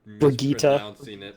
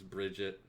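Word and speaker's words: Brigitte: everyone her name is Bridget people have been boogita boogita or brunette no it's Bridget alright that's how you pronounce it and dance um break got nerfed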